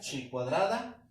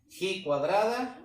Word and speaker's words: chi cuadrada: Te lo pongo así porque dependiendo el libro, dependiendo el autor, algunos lo nombran así como tal, chi cuadrada, o se pronuncia así, ji cuadrada, o también lo colocan con la letra G.